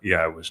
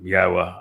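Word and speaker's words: Yahowah: revere Yahwa's name, and that you pronounce it correctly. And don't let anybody tell you that that isn't the correct way to pronounce it. It's obvious. Um, Yahwa, I explained how to pronounce three of the four letters and the very verb that he told us was the basis of his name, Haya.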